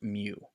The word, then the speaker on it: mu: of looks like an odd M and it's pronounced mu but will again get back to that later